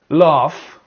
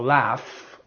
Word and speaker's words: laugh: So the GH can be pronounced F.